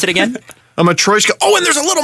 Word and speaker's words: matryoshka: pronounce it again? A matryoshka.